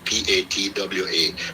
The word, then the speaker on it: patois: Jamaica, is patois, and you spell it Patois. In bracket you can then put Patwa, just to make the person know that yes, don't be confused with the way I wrote it. So it is patois, but it's a French word. So that's the pronunciation, as in the way people say it.